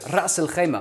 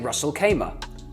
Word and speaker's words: Ras al-Khaimah: So, Ras al-Khaimah. Most people say Ras al-Khaimah.